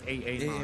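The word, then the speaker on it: Aamon: I need to call him AA-mon. AA-mon because of the double A. I did too, you know. Yeah, you know. Shout out to AA-mon. Yeah. It will be how to say it? It will be a sin not to call him AA-mon. Yeah, it's just how the letters are just formed at the beginning.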